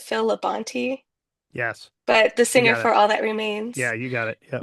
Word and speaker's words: Phil Labonte: It was like, it was like, I think is, I think you pronounce it Phil Labonte, Yes.